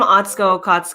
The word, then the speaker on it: Atsuko: still thinking about Katrina's microphone my name I'm atsco and that's how you say it uh nice